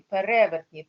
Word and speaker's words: перевертні: пере перевертні перевертні перевертні правильно наголос на другий перевертні перепис перевіз переріс пере пере на друге е до префікс п наголос на другому пере пере значить паліндроми